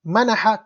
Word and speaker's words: منح: When you make a sound mana'a bil ayn, to prevent, manaha, to grant, opposite meaning.